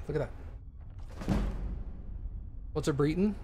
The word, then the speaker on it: Breton: you dead or alive nope you're alive it's pronounced breton cool noted what's it britain it's a race in skyrim breaton rioton okay